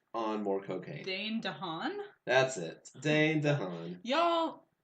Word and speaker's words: DeHaan: DeHaas on more cocaine. Dane DeHaan?